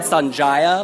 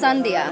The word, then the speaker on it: Sandhja: your name I said Sanaya like you were a Japanese princess right what's your name's Origins it's Indian actually yeah but it's it's pronounced sundia sundia that sounds much